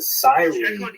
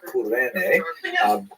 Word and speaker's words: Cyrene: I've looked it up and I've heard it pronounced as Cyrene in English. In Greek, it would have been something like Kurene. So I'm probably going to say Kurene, and I would probably be wrong, but this wouldn't be the first time.